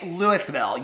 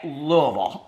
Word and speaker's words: Louisville: I'm talking about Louisville Kentucky you don't say Lewisville you say Louisville okay that's how you pronounce that I don't even live there and